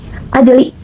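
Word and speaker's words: أَجْلِ: Hukum tajudnya yaitu qalqalah sugra karena terdapat huruf jim atau huruf qalqalah yang barisan mati atau sukun dan dibaca dipantulkan seperti ini. Ajeli.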